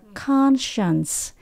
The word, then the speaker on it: conscience: lại như vậy thì mình không đọc là science nữa mình đọc là conscience conscious có nghĩa là